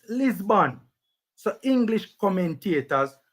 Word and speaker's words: Lisbon: the same dumb thing we are talking about lisboa in english is pronounced lisbon so english commentators call it lisbon benfica sporting